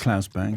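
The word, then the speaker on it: Claes Bang: In The Square, Klaus Bang, is it Klaus or Klaus or however you pronounce it? It's Klaus Bang.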